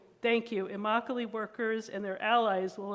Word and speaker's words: Immokalee: not going to say it right thank you Immokalee workers and their allies will embark on a